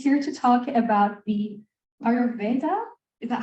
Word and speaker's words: Ayurveda: introduced and he's here to talk about the ayurveda is that how you pronounce it yes yeah perfect a new age